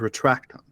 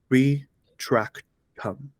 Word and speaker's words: Retractum: The incantation is Retractum. Listen to the pronunciation closely. Again, Retractum.